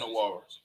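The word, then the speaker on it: Nwora: I kept saying his name wrong. His name is Jordan Nawara.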